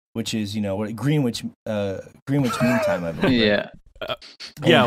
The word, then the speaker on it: Greenwich: certain time GMT which is you know what Greenwich Greenwich Mean Time yeah yeah well let you think it's pronounced that way it's adorable it's empty mount agree Greenwich Greenwich actually pronounced Greenwich Greenwich okay don't get me started on names in